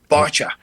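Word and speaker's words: Báite: Okay, and you can go to Newport Beach Film Festival, and this film, spell it for those who are Irishly challenged like me. BAITE. Bacha.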